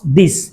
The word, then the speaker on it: this: এটি কি what's দিস, ঠিক আছে, হোয়াটস দিস, দিস শেষে আছে সা সাউন্ড, প্রথমে দা এরপর সা, দিস কাছে একটি আছে,